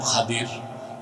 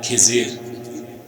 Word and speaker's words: খাদির: আমার এক নেককার বান্দা তার নাম খাদির যারে আপনারা বলেন খিজির উচ্চারণটা কির আমাদের দেশের লোক বলে কি এটা ভুল উচ্চারণ শুদ্ধ উচ্চারণ কি মুসা